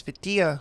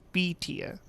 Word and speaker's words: Vitilla: Because I was saying, I also heard some people say it like with an A. Like I just mentioned Vitilla. And the guy was like, no, it's Vitilla. I was like, oh, okay. It's an I sounding B-Tia.